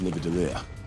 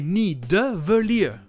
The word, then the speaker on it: Nidavellir: Il inverse le D et le V. Le bon nom est Nidavellir. Et lui, il dit Nidavellir.